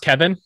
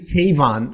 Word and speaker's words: Kayvon: And just make sure I get your, is it pronounced Kevin? I want to make sure. Or no, Kayvon? It's actually Kayvon. Like Kayvon. It's pronounced okay. Key to the van, but it's pronounced Kayvon.